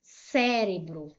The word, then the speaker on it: cérebro: Cérebro. Vou separar em sílabas. Cébro. Cérebro. Qual foi a sílaba mais forte, sílaba tônica, a antipenúltima, ó. Última, penúltima, antipenúltima. Então, cérebro foi acentuada porque é uma palavra proparoxítona.